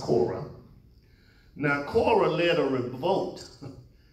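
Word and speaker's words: Korah: person is Cora Cora with a K it's pronounced Cora now Cora led a revolt he he led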